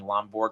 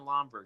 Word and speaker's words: Lomberg: the announcer at ESPN he's saying lomborg Lomar uh so the whole broadcast for ESPN was I no idea how it is that hard to pronounce Ryan lomber it is not that